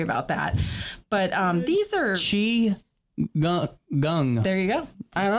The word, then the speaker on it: Qigong: I have had patrons correct me on how to pronounce this. It's Qigong.